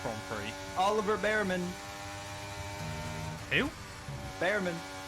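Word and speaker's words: Bearman: Behrman. You know it's pronounced Beerman, don't you?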